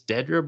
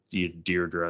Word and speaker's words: Dedra: I can never say it right. No, people. It's Dedra, but like people are just calling her Deirdre at this point.